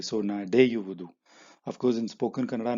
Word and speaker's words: ನಡೆಯುವುದು: The u is added as a sandhi because nade is the verb. Wudu is here. In between, you have to use the u in order to pronounce it properly.